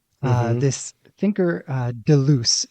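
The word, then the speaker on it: Deleuze: uh this thinker uh Delo is that how you pronounce that yeah I think the audiobook narrator said jel du but I'm not French enough to do it that way so we'll just call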